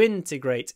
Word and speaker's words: integrate: help immigrants to integrate integrate the stress on the first syllable to integrate it begins with a